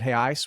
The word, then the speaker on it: real: is coming in at hey Ice which is actually how you pronounce real in Portuguese sorry I'm not my